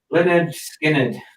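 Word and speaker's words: Lynyrd Skynyrd: we've got here now leonard skinner that's how you pronounce it how you know pronounce it this is 2009.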